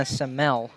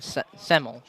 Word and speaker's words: Semel: called on number 23 montana semele or semel excuse me montana semel a lot of fun